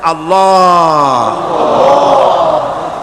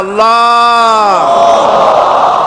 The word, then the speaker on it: আল্লাহ: আল্লাহ পাকের উচ্চারণটা হচ্ছে, আল্লাহ পাকের নামের উচ্চারণ হচ্ছে আল্লাহ। মুখটা একটু গোল হয়ে যাবে, বলেন আল্লাহ আল্লাহ সুবহানাল্লাহ।